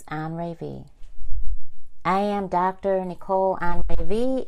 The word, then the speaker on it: Anré'V: How do you pronounce her last name? Is it Anré'V? It's Anré'V.